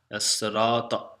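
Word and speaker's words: الصراط: pronounce this is remember I told you some lambs are you saying Nina Serato no you know the Lambs some lambs are not pronounced yeah s syrup if Dina s as-sirata al-mustaqim al-mustaqim must tell mr.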